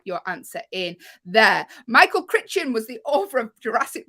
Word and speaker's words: Crichton: Michael Crichton was the author of the Jurassic Park books.